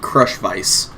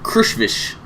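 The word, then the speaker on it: Krushvice: right here how do you guys think that's pronounced because I look at it and I read crush vice which i think sounds kind of cool but it's actually pronounced crush fish dear precious I think we are happy to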